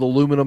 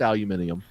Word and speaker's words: aluminium: am completely sold on it I work with aluminum every day I have to say it that way for the Hicks that I work with but no it's aluminium never never pronounce the damn letters that's all